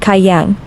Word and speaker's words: gai yang: This snack is called gai yang. It's pronounced kai yang. Gai or kai means chicken in Thai.